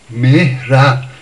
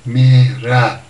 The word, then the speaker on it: مهره: مهره یعنی اول میمه که کسره داره، بعد هی دو چشمه با یه که خیلی کم تلفظ میشن، یعنی میگیم مهره یا مهره.